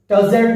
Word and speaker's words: tousled: The first one is tousled head. Be careful. E silent. You have not to pronounce E.